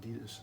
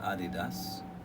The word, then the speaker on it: Adidas: You know, when talking about Adidas, in the UK we pronounce it Adidas. The rest of the world is kind of like Adidas. Yeah. But apparently I it's say Adidas. German. It's a German company, Adidas, and it was named after.